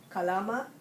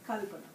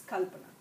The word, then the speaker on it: Kalpana: I see people saying Kalama, I see people saying Kaplana, I see people saying Kalpana. So the right way is Kalpana. Okay, so the way we stress different syllables is different in each language. So it's Kalpana.